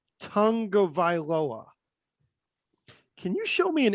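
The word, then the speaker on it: Tagovailoa: That came out that Tua pronounces his last name Tungavailoa.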